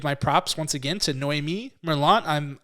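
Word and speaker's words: Noémie Merlant: to Noemi Merlot I'm I apologize uh if I'm pronouncing your name wrong I have no idea I'm trying that's exactly right I called her while you started and she said that's exactly how you pronounce it good job that's a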